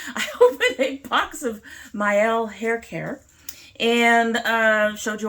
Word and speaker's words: Mielle: Yes, I finally learned how to pronounce it. I opened a box of Mielle hair care and showed you all the things, told you to use all the things.